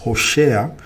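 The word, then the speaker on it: Hoshea: of the father so the Hebrew name of the Prophet Hosea or in other words when you pronounce it in Hebrew it's it's her share which signifies or it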